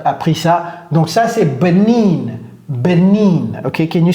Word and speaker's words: Benin: Donc, ça, c'est Benin.